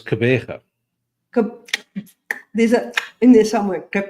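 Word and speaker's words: Gqeberha: Devil, can you hazard the pronunciation of Port Elizabeth's new name? How did somebody say it's an alphabetical soup? It's Kebega.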